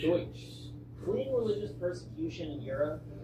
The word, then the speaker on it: Deutsch: The name itself came from a mispronunciation of their own word for themselves, Deutsch. Deutsch.